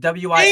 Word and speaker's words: Wise: It's pronounced Wise, like with a Z. With a Z. Like, yeah, like if you look up the phonetic spelling of it, shout out to PokePlumber, Pokemon pronunciation of the day. But if you look up like the phonetic spelling of Wise, and I DM'd him this back, it's like WIZE. The S makes like a Z sound more than an it's not a S.